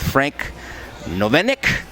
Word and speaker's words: Frank Novinec: a perfect day for a positive evening with frank novenic yes did i pronounce that right you did very good florida